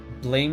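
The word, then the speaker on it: Blame!: Blame is pronounced blam.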